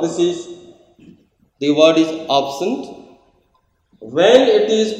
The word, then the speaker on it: absent: is pronounced as noun it is pronounced as absent we put stress over here the pronunciation is absent but when it is the same word becomes absent so we have two distinct pronunciation but the orthography is the same this is we have